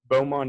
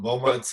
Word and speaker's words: Beaumont: you grew up in beaumont is that how you pronounce it nope beaumont texas beaumont texas and you